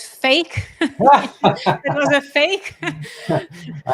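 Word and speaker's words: PHEIC: the wh in also when you pronounce it it's it pronounces as fake it was a fake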